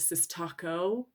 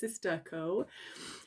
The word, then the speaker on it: Sistaco: thought okay this um I pronounced it CIS Taco because I had no idea until I found out later it's sisterco um and so I foreign